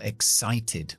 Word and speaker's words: excite: Como es un verbo, acentúo la segunda sílaba. No la primera, como los sustantivos y los adjetivos. La primera sílaba, ex. La X está al final de la sílaba, KS, ex. Y luego tengo sight. Como tengo la E al final, hace que la I se pronuncie como el abecedario, que es I.